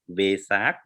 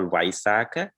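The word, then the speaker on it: Vesak: lecture and lanka sri lanka is called visak like because they represent like uh uh mixed uh europeans and sri lankan language together and some other country they call waisaka it is represented their pronunciation only thank you thank you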